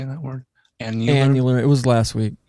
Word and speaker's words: annular: Annular. It was last week. Annular, like once a year.